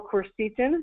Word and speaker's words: quercetin: There are also natural supplements that have been shown to decrease symptoms, such as quercetin or quercetin, depending on how you want to pronounce it. It's Quercetin, bromelain, Bromelian, and others.